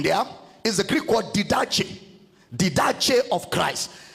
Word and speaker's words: didache: The word doctrine there is the Greek word didache of Christ. Didache is spelled as D-I-D-A-C-H-E, didache.